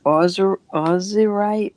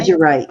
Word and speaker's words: azurite: Terry says ozurite. How do you say that? Turquoise and lapis called Azurite? Azurite. Yes, that's it. Thank you, Azurite.